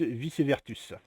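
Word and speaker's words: Vicévertus: vous savez ça, je le prononce bien, Tilius vicevertus. Vice-versa, ou je pense que ça soit un amalgame avec ça.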